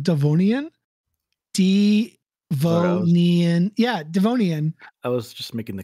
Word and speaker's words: Devonian: Yeah, Devonian. I was just making the connection to your first name. The only difference is I was like, Devonian?